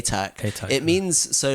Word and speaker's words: Atack: So it's not attack, it's Atack.